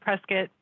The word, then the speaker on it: Prescott: i'm in prescott arizona actually pronounced prescott like biscuit we are a small